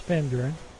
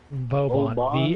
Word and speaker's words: Vauban: It's Van Buren. Or Vaughn, or however you pronounce his name. Who is that? Oberon? Oban. Vauban.